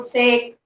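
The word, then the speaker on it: sake: लेकिन जब एज a Japanese drink अगर हम इसको यूज कर रहे हैं तो इसका मीनिंग है हमारा जैपनीज ड्रिंक, इसका प्रोनाउंसिएशन होगी साके, ठीक है।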